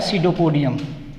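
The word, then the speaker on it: pseudopodium: इसके अंदर कहलाता है सीडोपोडियम। इसमें स्टूडेंट्स ख्याल रखिएगा कि ये पी जो है वो लफ्ज़ इसके अंदर साइलेंट है।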